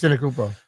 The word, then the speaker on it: Antetokounmpo: I'm terrible at pronouncing this. Antetokounmpo.